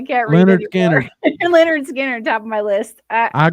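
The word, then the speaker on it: Lynyrd Skynyrd: Okay, you pronounce this. I can't read Leonard anymore. Skinner. Leonard Skinner, top of my list.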